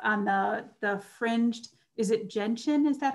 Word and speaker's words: gentian: with the photograph on the fringed, is it gentian? Is that how you pronounce it?